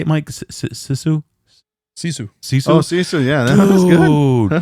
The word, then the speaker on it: Sisu: Sisu.